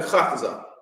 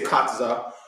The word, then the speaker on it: Khataza: And but because of the way our vowels work, it's kha. Very simple. Captain Khataza is really the proper way to say it. We say Khataza. But that ka is not the ka, it's a kha. It's the kha. It's a kha, right? Kha. Khataza, right?